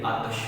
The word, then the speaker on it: آتش: آتش ہم پڑھتے ہیں، اگر اس کی تلفظ کی بات کی جائے تو اس کے جو لفظ ہے نا تے اس کے اوپر زبر آتی ہے تو خواجہ حیدر علی آتش پڑھا جائے گا.